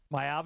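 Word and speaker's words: Maiava: Jaden Mava, the USC quarterback so far this year, Mayava, as you pronounce it, nine touchdowns, no interceptions.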